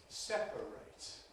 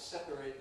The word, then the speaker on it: separate: You may know that the suffix spelled a t is strong in verbs but weak in adjectives. So, the verb is to separate. We've got to separate these two things. But the adjective is separate.